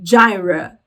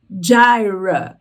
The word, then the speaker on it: Jireh: Só muda aí a pronúncia, então, da palavra. Em inglês se diz Jireh, Jireh.